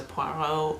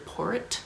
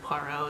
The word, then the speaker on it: Poirot: reason, who goes by the name Mr. Porritt, and that's because everybody in town mispronounced it the first time, and Poirot is like, I'm retired,